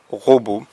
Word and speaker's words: robot: qu on pourrait écrire un ro beau avec le thé à la fin qui ne se prononce pas un robot par exemple on dit